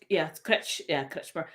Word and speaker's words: Kretschmer: Yeah, I spell it as Kretz, Chmer. It's Kretschmer.